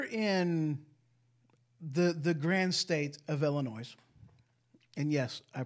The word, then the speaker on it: Illinois: So here in the grand state of Illinois, and yes, I pronounced it Illinois, because it's fun for me and it makes, certain people go, you don't pronounce, the S is silent anyway.